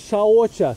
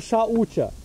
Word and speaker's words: Shaucha: Okay, das erste Niyama-Prinzip ist ausgesprochen wird es Shaocha. Vielleicht wird das irgendwo auch anders geschrieben, ich weiß es nicht. Shaocha oder Shaucha, übersetzt Sauberkeit.